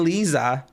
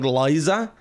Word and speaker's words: Liza: her like it wasn't Lisa it wasn't Lisa it was like Liza you didn't call her Eliza If you called her Lisa oh man you were